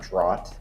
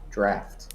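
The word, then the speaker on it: draught: with an f uh with an f draft not drought draft but that's pronounced drafts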